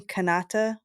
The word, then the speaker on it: Kanata: Kanata is how you say it.